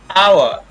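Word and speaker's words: hour: ऐसे शब्द जैसे आवर, आवर, इस तरीके से पढ़ते हैं, इसको हावर नहीं पढ़ते हैं, घंटा।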